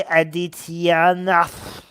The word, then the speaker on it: Adityanath: Yogi Adityanath.